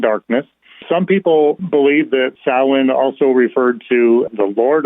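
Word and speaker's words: Samhain: s m ha a i n but it's pronounced as Sin and in Modern Irish it means Summer's end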